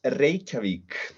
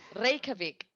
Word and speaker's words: Reykjavik: the city life in grave quebec life in reykjavik reykjavik yeah there is okay i was making it